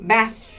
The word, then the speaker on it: bath: bath bus bath so make sure your s sound is different from your th sound as I said at